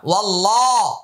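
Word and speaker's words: والله: লাম খারা জবর লা ওয়াল্লাহ আল্লাহ শব্দের পূর্বে জবর আসছে আলিফটা লামটা উচ্চারণে আসবে না ওয়াল্লাহ ওয়াল্লাহ এখানে এক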